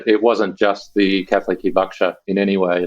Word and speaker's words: Hibakusha: When I looked it up, there's a Japanese term which I'm going to horribly mispronounce. Hibakusha, is that right?